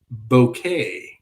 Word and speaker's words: Bucket: house that's cool bucket is pronounced bouquet okay cool but then